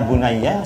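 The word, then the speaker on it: يا بني: harakat sama cuma nanti kalau bacanya ya bunaiah sama ya baniah ya bunaiah sama yabaniah loh beda ya satunya D satunya fathah beda ini maknanya adalah e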